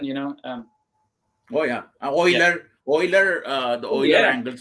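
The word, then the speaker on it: Euler: o Oilers name name because I would say uler you know because yeah yeah that's why I say uh you cannot these pronunciations I not I myself not sure which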